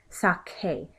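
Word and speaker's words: saqué: So I'm changing the C to a K to maintain that k sound. So my yo form conjugation is going to be sake.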